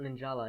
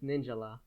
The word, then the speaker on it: Ninjala: I'm like oh yeah it's not an Angela it's ninjalah so I always get frickin